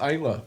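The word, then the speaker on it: Islay: It's actually pronounced Isla.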